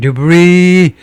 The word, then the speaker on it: debris: falling debris, 떨어지는 debris요. S 발음하지 않고요.